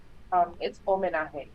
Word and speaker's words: Homenaje: Is it Homenaje? How do you pronounce it? It's homenaje. It's Homenaje. in Spanish.